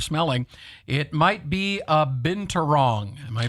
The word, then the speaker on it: binturong: was that you're smelling, it might be a binturong. Am I pronouncing that correctly? Binturong? I'll go with your pronunciation. Yes, binturong, also known as a bear cat.